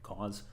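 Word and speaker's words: Coz: Um, and the example that we're going to talk about today is a profiler called cause. Um, spelled C O Z but pronounced like cause.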